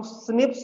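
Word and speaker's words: SNP: pronounce करते हैं बेटा एक्चुअल में एसएनपी इसको हम स्निप्स क्रॉस करते हैं और इसका फुल फॉर्म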